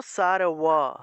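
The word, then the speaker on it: সর্ব: হ্যাঁ, মনে করেন যে সার্ব আছে, সার্ব আমরা উচ্চারণ করব সারওয়া সারওয়া।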